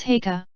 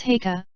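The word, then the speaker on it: Haigha: His name is Heika." He pronounced it so as to rhyme with mayor.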